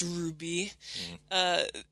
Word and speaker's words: RWBY: never seen anything about our waby which is pronounced Ruby they had four trailers